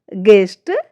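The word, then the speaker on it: guest: जब जी के बाद और किसी बाउल से पहले यू आता है तो यू जो लेटर है वह हमारा साइलेंट हो जाता है। स्पेलिंग से देखिए गिटार गार्ड गेस्ट गाइड इन सारी ही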